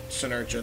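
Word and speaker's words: Senerchia: Tyler, I forget, I can never pronounce Tyler it. Tyler Sinercha. Yeah, Sinercha, thank you.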